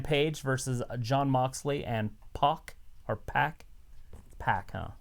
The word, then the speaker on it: PAC: We got Kenny Omega, Hangman Page versus John Moxley and Pac, or Pac? Pac, huh? It's Pac. I think it's Pac. It's Pac because it's not Tupac, it's Pac.